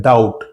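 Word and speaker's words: doubt: इसी तरह एक अगला वर्ड है डाउट। डी ओ यू बी टी। ऐसे हम इसको लिखते हैं। लेकिन जब हम उसको प्रोनाउंस करते हैं तो उसमें जो बी है वो साइलेंट होता है।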